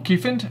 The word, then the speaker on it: Cufant: Cufant? How yep. would you pronounce it? Yeah, Cufant. Okay. Like an elephant.